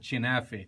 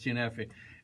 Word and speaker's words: kunafa: For some people, they pronounce it chinafe. If you are from certain villages, you refer to it as chinafe. I'm a Jerusalemite, so we call it kinafe or kinafe nabilsiye.